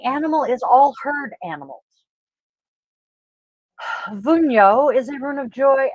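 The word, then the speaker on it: Wunjo: had this one and I'm pretty sure I mispronounced it but it is vuno the Divinity is frig the letter is W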